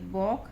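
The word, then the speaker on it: walk: नियम आया हुआ है कि एल के बाद जब भी के आ जाता है तो हम एल को साइलेंट रखते हैं, के का उच्चारण होगा। तो यहाँ पे आई वॉक with my legs, मैं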